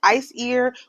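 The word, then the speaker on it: Æsir: a minute in soon AER is pronounced ice ear with stress on the first syllable it is plural noun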